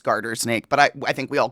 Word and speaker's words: garter snake: So it's actually not called a gardener snake. It's just like a mispronunciation. Yeah. It's like, hold on. Yeah, I wanted to make sure it's garter snake, but we all just